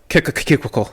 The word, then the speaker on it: Kickle Cubicle: As I call it, Kickle Cubicle. So Kickle is spelled like a kick with an LE on the end. Yeah. And cubicle is spelled like the thing that some of you might work in.